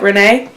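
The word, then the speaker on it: Renae: So it is R-E-N-A-E. So like Renee.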